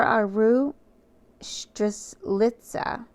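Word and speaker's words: strelitzia: the table today and Sunstone mhm the floor aru litza I'm going to spell that too s t r e l i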